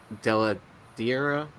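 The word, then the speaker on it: Dell'Edera: Yeah, so it's like one of the main artists, Weather Della Diera. Is that how you pronounce his last name? Uh-huh.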